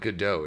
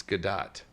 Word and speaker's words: Gadot: It's not Godot, it's Godot. Or Godot. You pronounce the T, apparently.